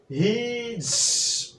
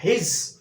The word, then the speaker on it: He's: R talented you R talented you R talented হিজ হিজ হিজ এখানে হি is apostrophe S হিজ এখানে এস এর উচ্চারণ দন্তস না হয়ে হবে জ তাহলে কি